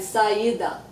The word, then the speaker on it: saída: In Portuguese, se la L se va, no se pronuncia la L. No tem L, saída.